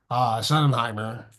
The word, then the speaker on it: Schottenheimer: Anyway, Pete Carroll to the Raiders and Brian Schottenheimer.